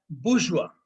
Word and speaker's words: bourgeois: Last word is pronounced as बुर्जुआ। Either you pronounce it as bourgeois or you pronounce as bourgeois. That's the right word.